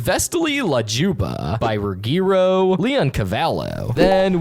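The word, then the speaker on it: Vesti la giubba: The song that plays as Banana Joe points to Gumball and Darwin is the Visti Luba, pronounced Vestily Lajuba by Regro Leon Cavalo.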